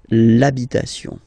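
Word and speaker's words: l'habit: the the masculine part even if you've got this ash then the first sound you hear is a okay so for the same reason you will have to take this a away and then you get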